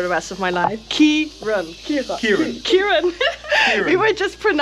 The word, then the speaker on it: Kieran: We were just saying that like the Dutch alphabet is so different than the English one, so I had troubles pronouncing your name. Yeah, it's Kieran. Yeah. That's for everyone that gets it wrong.